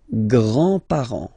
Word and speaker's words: grands-parents: Les grands-parents. Remember, you don't pronounce this final S here.